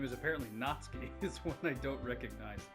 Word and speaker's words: Natsuki: How do you pronounce it? Natsuki.